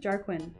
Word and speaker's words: Jarquin: Jarquin is like Jar.